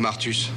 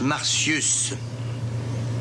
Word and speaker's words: Martius: Ah et à propos de Martus, vous ne m'avez encore rien dit. On prononce Martius.